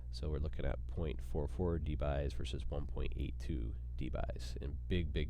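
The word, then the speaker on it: debye: It's measured in this thing called dBys. That's how you pronounce that.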